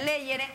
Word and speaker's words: Legere: Se pronuncia Leyere.